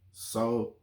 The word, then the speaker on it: Solon: About Atlantis, and his name was Solon. Like Solange, like the singer? No, not Solange. Okay. Solon. Okay, Solon. Yeah. Okay. Not Solon. Not Solon. Solon. Okay. Like lawn, like yard.